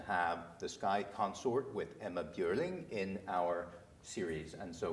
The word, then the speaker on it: Emma Björling: Jag heter Emma Björling.